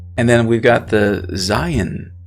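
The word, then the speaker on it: זין: then we've got the zion right zion now the seventh letter of the hebrew aleph bet it's really interesting one way that's easy to remember this one is zion sounds a lot like zion okay and so that's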